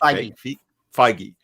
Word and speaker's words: Feige: How do you not pronounce his name? Feige.